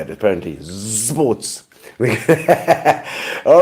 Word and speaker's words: Zsports: Zsports. That's how you say it, apparently. Zsports.